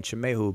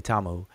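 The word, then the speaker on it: Tjemehu: and then remind you i'm saying chamehu because that's how it's supposed to be pronounced conventionally but people say tamu if the tamahu is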